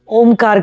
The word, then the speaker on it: ओम: Inhale, जितना आपसे हो, और ये ओम तीन वर्ड से बना है इसलिए हम अ उ और म, तीनों का अलग अलग उच्चारण करेंगे।